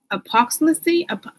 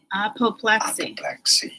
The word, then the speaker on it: apoplexy: Apoplexy. Stress on the first syllable.